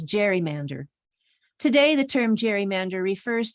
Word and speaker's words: gerrymander: gary it became a garrymander which is pronounced more generally these days as gerrymander today the term gerrymander